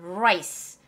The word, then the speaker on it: rice: 우리가 맨날 먹는 거 영어로는 라이스 아니다 라이 자봐 라이스는 다른 거야 라라고 해야 돼 아까라죠 rice rice you like rice R 살 이건 뭐라